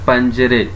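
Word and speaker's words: پنجره: پنجرے. لہجہ اور تلفظ صحیح کرنا ہے اپنے. پنجرے, پنجرے نہیں ہے, پنجرے.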